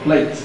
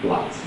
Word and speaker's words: plait: Take note, this word is not plate as some people pronounce it. Not plate. I'm going to plait my hair. No, I'm going to plait my hair.